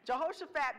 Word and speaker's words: Jehoshaphat: mistakes jehoshaphat let me say his name right jehoshaphat begins to clean house when he becomes king